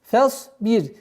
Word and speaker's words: فاصبر: Согласовки фатха уходим на сад. Фасбир. Произношение буквы ра здесь мягкое, потому что впереди стоит огласовка кесра.